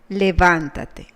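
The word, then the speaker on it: levántate: a single word levantate you will notice that this word has a tilde I will explain briefly why this is so according to the rules of Spanish pronunciation words that end in any in Si or in a vowel have the syllable of intonation that is the strong syllable in the penultimate syllable for example Caracas common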